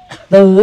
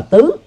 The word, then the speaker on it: tứ: Thì tương tự cái chữ tư đó đó phải đọc đúng là tứ, tầm tứ.